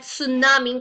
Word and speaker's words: tsunami: proof the fact that tsunami guys T is silent that tsunami had effected